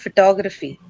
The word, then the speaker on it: photography: Toe is stressed. Toe. Toe is the one that is sorry, right? And to happens to be the first sound of the stress syllable.